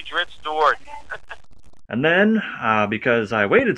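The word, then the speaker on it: Drizzt Do'Urden: him so I could say, how do you pronounce his name? It's your character. Your word is law. Dritz Stewart. This is Bob Salvatore. I say Dritz Stewart.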